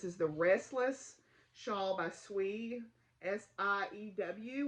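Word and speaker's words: Siew: So this is the Restless Shawl by Swee, S-I-E-W, which I hope is pronounced Swee. That's how I pronounce that. Swee Clark.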